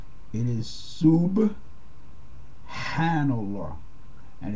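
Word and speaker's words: سبحان الله: You'll hear a lot of people say Subhanallah, but there's no P sound in the Arabic language. Okay, so it's not Subhanallah. It is Subhanallah, and it's very important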